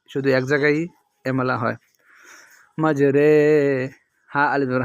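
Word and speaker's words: مَجْرٰىهَا: হবে এমালা এমালা অর্থাৎ মানে একটু আকারের মত উচ্চারণ হবে কোরআন শরীফে শুধু এক জায়গায় এমালা হয় মাজরে হা আলিফ জবর হা মাজরে হা ওয়াও জবর ওয়া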